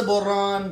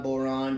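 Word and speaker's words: bodhrán: So that's the Boron, the B-O-D-H-R-A-N, Boron. You can say it however you like. I promise you, I've heard many people pronounce that many different ways, all thinking that was the authentic way to say it.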